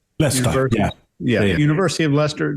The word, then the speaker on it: Leicester: at I think it's how do you pronounce it mark less Lester Lester yeah yeah University of